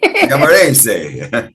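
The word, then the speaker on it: Giammarese: he says, "Oh, good, you're Italian now. You say it right." Camarese.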